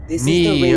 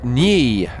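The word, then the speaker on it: Nyi: Ni would be pronounced Ni, N-Y-I, Ni.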